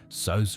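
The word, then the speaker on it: Soos: Sos Ramirez is the handyman at the Mystery Shack and becomes like an older brother to Dipper and Mabel. His name is short for Jesus, pronounced in the Spanish way.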